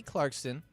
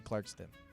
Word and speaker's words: Clarkson: Now, what current singing show is Kelly Clarkson a judge on? I always say her last name wrong. I always say Clarkston.